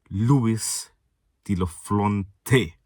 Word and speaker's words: Luis de la Fuente: Let me pronounce it again for all my Espanol subscribers, if they're even here. Luis de la Fuente.